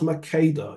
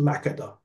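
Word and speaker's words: Makeda: that's right and by the way it's not pronounced Mada it's pronounced makada ah Mak right yeah Reas I'm saying this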